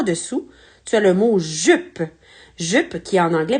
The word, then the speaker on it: jupe: femmes une jupe et on ne prononce pas le E à la fin puisque c'est le E en fin de mot donc il est muet donc voilà c'est parti